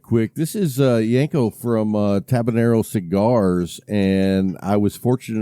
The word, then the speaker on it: Tabanero: And so I also, because I know I probably butchered the name of your cigars on my show last week. Is it Tabanero? Yeah, Tabanero.